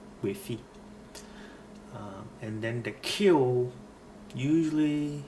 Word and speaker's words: Gbefi: Gbefi is a town in the Volta region, so GB, Gbefi.